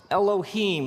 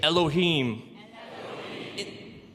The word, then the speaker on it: Elohim: it would look something like this and it's pronounced Elohim let me hear you say Elohim in the beginning Elohim created the heavens and